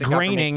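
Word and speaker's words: Groening: Shadow of a doubt that Matt Grooning is not part of a secret society. It's pronounced graining.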